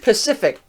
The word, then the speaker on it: Pacific: The word Pacific. Yeah, the C is a S sound and a hard C sound.